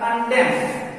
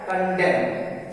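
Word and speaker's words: condemn: उसी तरह कंडेम सी ओ एन डी ई एम एन, तो यहाँ n के बाद n है तो n साइलेंट होगा तो हो जाएगा कंडेम।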